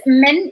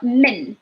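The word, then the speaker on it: من: So whenever we have a vowel, we literally stretch it. So we will say like mean and min.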